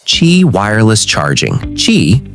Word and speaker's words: Qi: Qi, pronounced Qi, is the most widely adopted wireless charging standard in the world today.